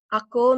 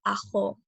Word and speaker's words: ako: Ako means I or me. And there are 2 possible pronunciations for this word. You can say it can be said with the stop, ako, or with the fricative, aho.